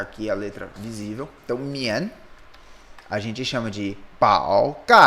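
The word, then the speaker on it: 宀: Então, a pronúncia dele é mian.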